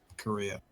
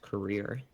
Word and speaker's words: Korea: It's pronounced career. Oh, fuck. Korea? Career. Korea. Well, no, it's like if you listen to like North Korean news broadcasts, they translate it to English, and that's how they say their own country's name.